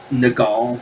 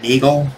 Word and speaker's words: Nagel: So we're talking about Patrick Nagel, is how I pronounce it. Like, as in Nepal, Nagel. Actually, some people call it Nagel. And I think that's actually how you do pronounce it, Patrick Nagel, because it's N-A-G-E-L. But I always call him Nagel because it just sounds more artistic and more right?